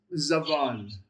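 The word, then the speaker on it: זבל: So it's pronounced zav, not zab. Zav. So, How about your next vowel beneath the bet right there? What's that vowel? where are we? Right here. That is the pata. Yep, that's your short A. And then your final letter? Lamed. It's the lamed. Correct. So your pronunciation is zaval.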